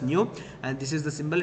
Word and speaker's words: nu: It is indicated by the symbol nu. And it is pronounced as nu, and this is the symbol.